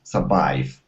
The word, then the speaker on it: survived: Give me a D sound here at the very end. Okay, the colonists would have survived. Colonists would have survived. Okay, one more time. Survived. Survived. Okay, almost. So you're pronouncing this E sound right before that D. You're saying survived. Okay, instead of survived, survived.